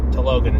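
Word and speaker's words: Talokan: Then they have to introduce Riri Williams, integrate her into the plot, and they have to introduce and explain Namor and Telogan is how they pronounce it in the movie, which is where they live.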